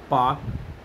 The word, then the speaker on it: Palk: Straight का नाम रखा पाक स्ट्रेट, उन्हीं के नाम पर पड़ गया। तो पाक स्ट्रेट PALK है, जबकि पाकिस्तान का PAK है, याद रखें एल साइलेंट है।